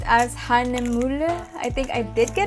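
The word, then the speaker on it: Hahnemühle: It's pronounced as Hahnemuhle. I think I did get it right the first time. Oh my gosh, I'm so sorry. Hahnemuhle.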